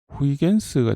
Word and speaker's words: Huygens: 홀랜드 화란 사람인데, 이걸 우리 이전에 학교 다닐 때는 호이겐스라고 배웠는데 이거를 영어식으로 읽으면 후이겐스가 되겠죠? 후이젠스가 되려나요? 어쨌든 일단 호이겐스라고 하겠습니다. 이전에 호이겐스라고 배워서 오가 없는데 그렇게 발음을 하는데, 이 호이겐스가 파동에서 업적을 좀 남겼고요.